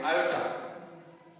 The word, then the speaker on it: iota: आयोटा। तो चलिए 1 minus 4 आयोटा का कॉन्जुगेट कॉम्प्लेक्स क्या मिला? तो ये मिल गया। ठीक है, तो चलिए अब इसको क्या करेंगे? 1 प्लस 4 आयोटा से ऊपर नीचे मल्टीप्लाई करेंगे।